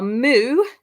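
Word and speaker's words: mu: easy to remember because they are moo like a cow that's the name of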